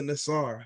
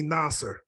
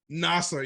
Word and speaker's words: Nasar: First of all, am I pronouncing your name right? No, it's actually Nasar. Nasar, yeah. See, I know. With us, like, a lot of us tend to stretch out the Muslim names, you know.